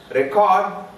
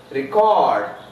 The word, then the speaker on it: record: Record. Record. So in all these cases, verbs take stress on the second syllable.